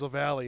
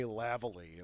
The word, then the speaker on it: Lali: you're screwed yeah because my last name is Lali and people call me lavali and like lavali and like all this stuff like doesn't never heard